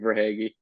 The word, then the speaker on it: Verhaeghe: I mean, guys like McDavid, Draisaitl, Alexander Barkov, Tkachuk, Verhaeghe. Pronunciation might be a little bit off. I think no, you hit it with Verhaeghe.